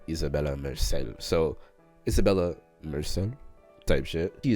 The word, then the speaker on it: Isabella Merced: Alright, she says Isabella Merced.